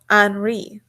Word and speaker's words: Henri: He pronounced his name, Henri. So, my name is Henri, I guess is how you pronounce his name.